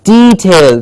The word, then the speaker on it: detail: very important word detail please remember it's not detail its detail the long e sound detail the clarity lies